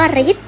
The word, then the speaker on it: ฤทธิ์: ไม่ ออก เสียง 2 คำ ว่า ฤทธิ์ นี้ ธง และ สระ อิ เป็น ตัว การ ร้าน ค่ะ เรา ก็ ไม่ ออก เสียง เหมือน กัน สุด ท้าย ข้อ 3